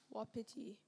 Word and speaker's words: wapiti: Am I pronouncing it correctly? You are. Diarrhea. Diarrhoea. Diarrhea. Correct. Tavion, wapiti. Wapiti. Please, may I have the definition? Large North American deer. Wapiti.